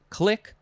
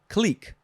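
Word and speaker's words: clique: and reprinting next is can be pronounced a couple of ways it is click or click c-l-i-q-u-e noun from 1711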